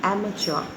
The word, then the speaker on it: amateur: r e a k free fourth amateur the pronunciation will be amateur a m a t e u r amateur